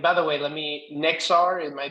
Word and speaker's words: Nexar: makes every and by the way let me nexar am I pronouncing that correct okay good just make it